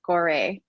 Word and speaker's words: Gorée: first visits to West Africa, the island of Gorée. Is that the right pronunciation? Correct. And you wrote, that evening I missed the last ferry from Gorée, and I spent the night amid new friends